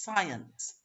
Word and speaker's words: science: them the difference between how it's actually pronounced two syllables science and the other one is sinners one syllable what about this one